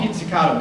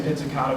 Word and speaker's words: pizzicato: First of all, the technique they use is called pizzicato.